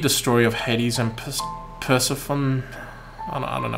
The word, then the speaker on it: Persephone: Have you read the story of Hades and Persephone? I don't know how to pronounce that.